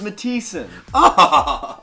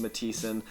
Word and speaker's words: Mathison: hard to pronounce Matheson Billy come on I told you it was matisson it's actually a Danish Origins from Denmark and yeah for whatever reason the H is silent so it's just matissan um and yeah you